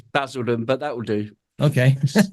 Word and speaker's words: Basildon: let me make sure I got this right, Basildon. Is that how you pronounce it? It's Basildon, but that will do.